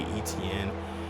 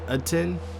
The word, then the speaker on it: Etienne: I think I said last episode, I think you don't say ETN. It's Etienne.